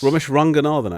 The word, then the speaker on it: Romesh Ranganathan: Romeshranganathan, actually. It's the correct What?